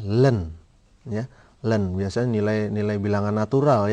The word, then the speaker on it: ln: adalah lnx + C LN ini bacanya Bagaimana pak ini bacanya Len ya Len biasanya nilain